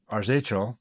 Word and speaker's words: Arzachel: This one, Arzachel, is that how you say it?